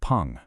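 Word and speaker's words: 풍: This character is fu, pronounced pong.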